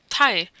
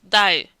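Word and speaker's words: 大: One time it's pronounced tai and once it's dai. So this is really characteristic of many kanjis. It depends really where you put it and in what combination.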